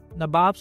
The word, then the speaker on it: Nawab: These were known as Nawabs back in England. Nawabs or Nawabs, that is their English pronunciation of the word Nawab.